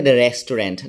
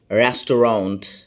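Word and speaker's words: restaurant: অনেকে বলে রেস্টুরেন্ট। না এটার উচ্চারণ হচ্ছে ওয়াট রেস্টরাউন্ট।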